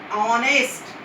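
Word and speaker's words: honest: ऑनेस्ट की starting है एच से, लेकिन हाँ इसकी साउंड आ रही है, एक साइलेंट है इसमें, और साउंड दे रहा है ये ओ की, ओ वोवेल है, तो इसलिए हम लिखेंगे एन ऑनेस्ट।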